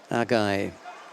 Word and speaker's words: Agai: I thought I'd wait for the local stadium announcer to pronounce the name. So, Agai it is.